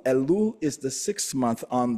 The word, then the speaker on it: Elul: of Yeshua so this is the month of elul elul is the sixth month on the Hebrew calendar it's spelled e l l elul elul and it